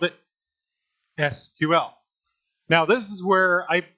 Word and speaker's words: SQL: and they called it SQL now this is where I voice one of my pet peeves all the time because I'll hear people say sequel it's not sequel its SQL it's an initialism not